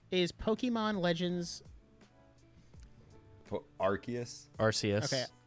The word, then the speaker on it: Arceus: Pokemon Legends for Arceus Arceus I wanted someone else to say it first I didn't want to say it wrong um I've called it RCs at first yeah so Pokemon Legends